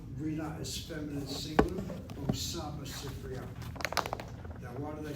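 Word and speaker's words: סִפְרִיָּה: The word for library in Hebrew, Sifriya.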